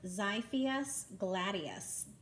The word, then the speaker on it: Xiphias gladius: X is for, It's pronounced Xiphias gladius.